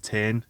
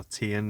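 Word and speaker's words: Tein: yellow spack suspension or green tin is how you pronounce it or tn is it's probably more commonly known in the uk and but yeah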